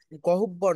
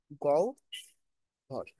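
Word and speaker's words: গহ্বর: এই যে এই কথাটা এই কথাটার উচ্চারণ কি জানো গহব্বর না কিন্তু এটার উচ্চারণ হচ্ছে গৌ ভর কি গৌর এই যে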